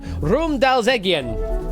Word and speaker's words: Romdalseggen: Oh, hang on, did I get the pronunciation right? Sorry, pronunciation, Romdalseggen. There you go. Romdalseggen is more accurate pronunciation there for that word.